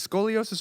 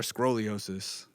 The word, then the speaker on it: scoliosis: Is it scoliosis or scroliosis? I never know how to pronounce it. Scoliosis. Scoliosis.